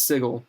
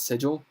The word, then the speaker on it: Sigil: tracy hickman that said it's sigil it's not sigil because basically they wanted to be like everything's quirky and sigil uh so they're like no no even though it's spelled s-i-g-i-l it's not like the symbol it's a it's weird i don't care